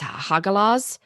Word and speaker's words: Hagalaz: It's so in my Winnie and Bear do a slightly different pronunciation, but it's Hagalaz.